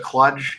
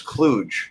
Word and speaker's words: Cluj: videos free Sean I pulse it clutch and I told him I was just letting him know the word is Cluj so now you can say it correctly to clue me unless